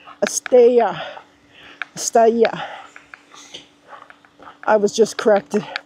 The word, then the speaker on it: Estella: It's not pronounced Estella. It's pronounced Estella.